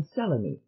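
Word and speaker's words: Selene: which are you either i am celemy all three syllables sell on me she said coming down heavily on the first syllable to those who use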